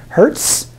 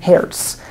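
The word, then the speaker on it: Hertz: of temporal frequency is in the American pronunciation Herz okay in the German pronunciation Herz and you can feel free to use either of those in our class it might be fun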